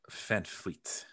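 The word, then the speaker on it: VanVleet: Well, first of all, it's German, so it's Fred Van Vliet. I found out that the V's are F's.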